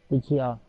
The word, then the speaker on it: Uchiha: Uchiha.